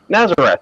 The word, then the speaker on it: Nazaret: Oh, Nazareth. Yeah, a town named Nazareth. Or in Spanish they pronounce it Nazaret.